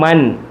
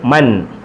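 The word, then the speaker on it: مًا: തൻവീൻ ഫത്തഹ് കൊടുത്തപ്പം മൻ. അലിഫ് എഴുതിയപ്പോൾ ഉണ്ട്. തൻവീൻ ഫത്തഹിന് ശേഷം ഒരു അലിഫിനെ എഴുതും. ആ അലിഫിന് ഉച്ചാരണം ഉണ്ടാവുകയില്ല, ഉച്ചരിക്കത്തില്ല, പറയത്തില്ല. ആ ഇ ഉ എന്നൊന്നും ഈ അലിഫിനെ പറയത്തില്ല. എഴുതുമ്പോൾ എഴുതും, ഉച്ചരിക്കത്തില്ല, പറയത്തില്ല. മീമാണ്. മൻ മിൻ മുൻ, മൻ മിൻ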